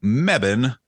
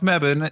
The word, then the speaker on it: Mebane: This is another community win out of the town of Mebane, North Carolina. Oh, okay. I think I know what we're going to talk about. Fun fact, the town of Mebane is located in both Orange and, pronounced it